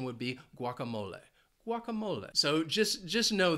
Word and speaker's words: guacamole: it's wonderful I love guacamole and it has four syllables and the stress is on that third syllable now I am saying it like many Americans Say guacamole now it is a